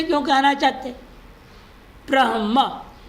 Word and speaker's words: ब्रह्म: ब्रह्म, ये बड़ा मुश्किल होगा ना, जिन लोगों के भाषा में संयुक्त अक्षर उच्चारण करना नहीं है, उनके लिए ब्र भी संयोग, म भी संयोग कर दिया आपने। बड़ा मुश्किल होगा ना उच्चारण करना उनको। पंजाबी भाषा में विशेषतर आत्म ज्ञान बोले, आत्मज्ञान नहीं बोलेंगे। इसको क्या बोलेंगे? वो ब्रह्म तो बोल नहीं पाएंगे, बारहम बारहमा ऐसे कुछ बोलेंगे उल्टा सीधा।